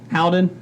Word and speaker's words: Hallidan: Hallidan. Yeah, I think it's only 2 syllables. It is, You're but I adding like an Hallidan L. because it rhymes with paladin, Okay.